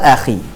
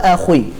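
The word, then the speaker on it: أخي: Contohkan tadi adalah wa akhi wa akhi ini hanya memiliki sifat Istia maka membacanya bukan wa akhu wa akhu Bukan tapi wa Akhi wa aki wa aki bukan wa ak beda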